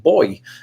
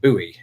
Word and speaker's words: buoy: We simply pronounce it boy, like the gendered child. But I understand that you would pronounce it buoy.